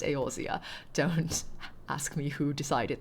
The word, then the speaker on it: Eorzea: It's pronounced Eorzea.